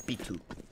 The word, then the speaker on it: Pitu: y sabe que es Pitu. Te dirán la T, esa inglesa, pero lo hacen bien. El apellido no lo dicen y ya está. No, no dicen Paitu, usan la pronunciación española, dicen Pitu.